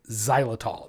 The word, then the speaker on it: xylitol: Some peanut butters are sweetened with an artificial sweetener called xylitol. It's spelled with an X.